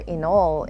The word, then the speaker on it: inaul: So inaul or inol is how they would pronounce it in Maguindanao, is the actual weaving that they use for malongs.